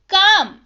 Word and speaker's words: calm: काम, CALM, लेकिन पढ़ते हैं इसको काम। L जो है साइलेंट रहता है, मतलब होता है शांत।